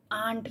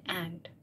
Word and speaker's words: ant: Even that आंट जिसने मुझे सिखाया, आंट नहीं, आई मीन एंट, या right, get your pronunciation right, या एंट, चीटी बेसिकली.